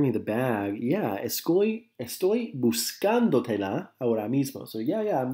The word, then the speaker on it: buscándotela: Buscándotela, the accent's on the A, as you can see underlined there.